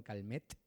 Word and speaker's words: Calmet: llamaba Don calm calm con t al final no de te y Silence como dango en francés pues así se pronuncia es don calmet Pero bueno se pronuncia Don calme e monje benedictino que